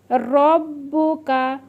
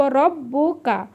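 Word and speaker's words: رَبُّكَ: এই আর পাশে এমন থাকলে কিন্তু আইন উচ্চারণ হবে। মনে রাখবেন আকা রব্বুকা। র ব ডবল ব আছে রব ব এরিতে বু ককারে কা রব রব্বুকা রব্বুকা ওয়ামা এখানে আবার এক আলিফ টান হবে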